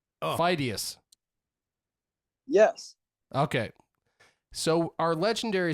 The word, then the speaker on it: Pheidias: but his last name, there's been some controversy about how you pronounce his last name. I'm going to guess Pheidias. That sounds right, but only because you just said Wrong. Oh. Pheidias.